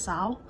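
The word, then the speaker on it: Seol: probably gonna say wrong the L is not pronounced her name is spelled s-e-o-l but when they say it in the book it's not pronounced so I think it's Sal and um she looks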